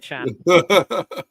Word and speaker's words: Can: if anyone chan emray chan yeah Jackie Chan is it yeah you know pronounced Chan but spelled can that was yeah and